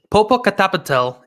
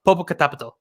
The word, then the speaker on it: Popocatépetl: Well, let me try to get this pronunciation right. It's Popocatépetl and Iztaccíhuatl.